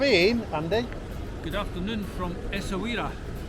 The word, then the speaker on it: Essaouira: Good afternoon from Essaouira. Pronounced perfectly for once.